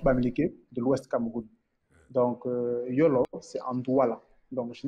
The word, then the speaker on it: Yolo: Déjà, Yolo, parce qu'on prononce ça Yolo.